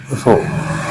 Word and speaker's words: rho: ठीक है, रो की स्पेलिंग होती है RHO, रो।